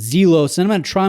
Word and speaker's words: Zelos: I've called it ZELOS, and it's not ZELOS. I found out recently, thank you to Random Rob, that it's ZELOS, and that is straight